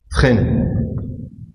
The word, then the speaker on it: Fresnel: Donc, sixièmement, vecteur Fresnel. Donc, S ne se prononce pas.